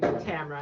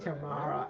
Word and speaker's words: Tamara: no that's not how well I pronounced my name Tamara and they're saying tomorrow this is why everyone pronounces it wrong mhm but they also